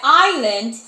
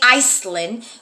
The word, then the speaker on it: island: And we know that island has a silent S in there, yes? Even though we don't say Iceland, we say island, but there is an S.